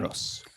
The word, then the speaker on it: Kyros: Kyros.